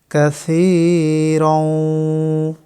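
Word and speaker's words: كَثِيرًا: কাসীরাও। সি একালিপ টানতে হবে, রং গুন্না করতে হবে। এখানে লুকানো নুন সাকিনের বামে ওয়াও ইদগমের অক্ষর।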